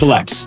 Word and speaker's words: CollX: But it's like one who collects things. Collects.